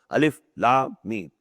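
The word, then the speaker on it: الم: These are pronounced separately, and so they are the broken into pieces. Not pronounced as Alif Lam Mim Alam. No. Alif Lam Mim. Alif Lam Ra Alar. No. Alif La Ra.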